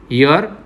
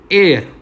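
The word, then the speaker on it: heir: Okay, तो हम इससे भी एन हेयर तो नहीं बोलते. ओके, क्यों? क्योंकि यहाँ पे the first letter H is silent. Okay, so we have used N एयर.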